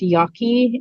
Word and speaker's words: Yaqui: it's people are scattered there are a lot of different ways of spelling that and pronouncing it as well yeah generally it's Yaki and y y is